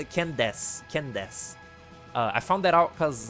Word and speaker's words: Candace: That name, I thought it was spelled like Candance. Like the final part is like dance, like dancing. But no, it's like Des, like Dace. It's like Candace.